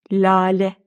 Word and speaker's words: lale: Lale. Baştaki L de inceliyor.